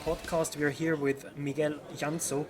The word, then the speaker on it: Miguel Llansó: We are here with Miguel Llansó. Correct me if I'm pronouncing this badly. You say it perfectly.